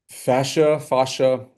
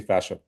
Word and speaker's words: fascia: Fascia, there's either pronunciation works. I say fascia.